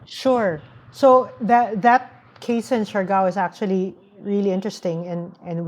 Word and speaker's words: Siargao: Is that Siargao? Is that how you mm-hmm. pronounce it? Mentioned Siargao, yeah.